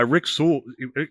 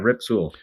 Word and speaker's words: Rip Sewell: There was an Eephus pitch back in the 40s, pitched by Rick Sewell. I'm going to pronounce his name wrong. Rick Sewell, right? Yeah, Rip Sewell.